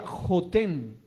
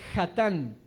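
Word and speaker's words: חתן: que en el original, donde aparecía la palabra, las letras JTN, así se escribe acá, se leyera Jotén, suegro, pero se debería leer Jatán, cuñado. Jobab era hijo de Jetro o suegro de Moisés.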